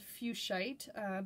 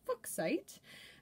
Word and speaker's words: fuchsite: be looking at fuchsite commonly called fuchsite but was originally meant to be pronounced book site and we'll get into